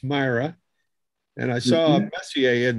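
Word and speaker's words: Mira: And it's pronounced Myra.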